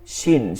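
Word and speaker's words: شين: শিন, শিন হচ্ছে তালবস্য এর মতন উচ্চারণ হবে, তালবস্য। হ্যাঁ, শিন শিন শিন শিন সিন না, ঠিক আছে? ছয়ের উচ্চারণ আনা যাবে না, কোনোভাবেই ছয়ের উচ্চারণ আনা যাবে না।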